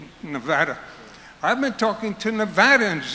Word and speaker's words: Nevada: phoning people in Nevada notice my pronunciation Nevada I've been talking to